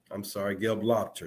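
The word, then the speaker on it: Gelobter: Gelupter. That's the way to pronounce her name.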